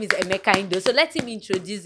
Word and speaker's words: Emeka: People call me Emeka, but the Okay. right pronunciation is Emeka.